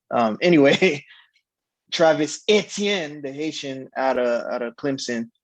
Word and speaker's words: Etienne: or as the people who don't know how to pronounce his name they say etn that's wrong um anyway travis etienne the haitian out of